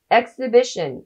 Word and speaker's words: exhibition: ーズの清家薫です。Exhibition、意味は展示会、展覧会。